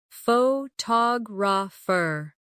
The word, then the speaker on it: photographer: Now, photographer. Notice how the stress changes when the word becomes longer.